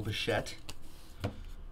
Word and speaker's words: Bichette: There's Dante's kid, Beau Bichette. Just kind of rhymes with Boba Fett.